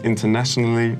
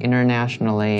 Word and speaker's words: internationally: Like internationally, internationally. I've heard internationally before, yeah. Internationally. Yeah. Internationally. But do you usually pronounce T?